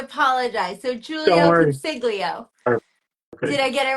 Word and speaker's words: Consiglio: I don't want to butcher the spelling, the pronunciation of your last name. How do I say it? Consiglio.